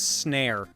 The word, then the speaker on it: Snare: It was Snare, which rhymes with Claire, which pissed me off a lot when I figured that out.